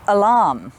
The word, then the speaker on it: alarm: So alarm, the stress is on the arm part, not the alarm.